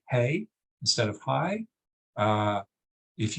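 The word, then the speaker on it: hej: some Scandinavian countries because that's the word for highs hey except except it's spelled h-e-j and of course if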